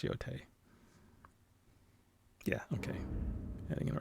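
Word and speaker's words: Yōtei: I think I've been calling it Yotai in the first episode, but it's Yote.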